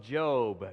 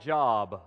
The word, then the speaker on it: Job: find the book of Job. Now, for some of you, it looks like Job, okay? But it's pronounced Job.